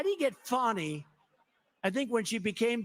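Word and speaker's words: Fani: they have no shame but think of the fawny it's F an I but they pronounce it funny how do you could would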